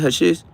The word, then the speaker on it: hashish: Hashish, that's how you say it, hashish.